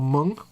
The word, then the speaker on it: Hmong: cool uh mayhem says same as hmong which is pronounced mung or monk yep we say meng it's not it's monk